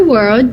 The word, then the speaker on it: world: In my world, justice means Essa palavra é muito difícil, né? A diva, Cela pronunciou direitinho, mas várias pessoas têm dificuldade na palavra world, falar esse RLD, né?